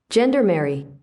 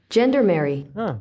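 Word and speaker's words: gendarmerie: I have the pronunciation of what I was going for here. Ready? Gendermary. I wasn't that far off. No. Everyone was acting like I was crazy. Gendermary.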